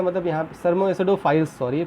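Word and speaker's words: thermoacidophiles: Now come to the next, thermo एसिडोफिल्स। अब देखो thermo एसिडोफिल्स का मतलब यहाँ थर्मो एसिडोफाइल्स सॉरी प्रोनाउंस करते हैं।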